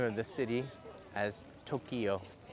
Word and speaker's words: Tokyo: pronunciation say the name of the city as Tokyo it's actually two syllables I always catch him on that one